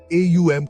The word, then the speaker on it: ॐ: AUM का उच्चारण ओम की तरह किया जाता है, जिसमें ओ साउंड को लंबा खींचा जाता है।